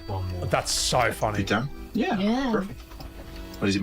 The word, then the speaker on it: Putain: Putain. Putain.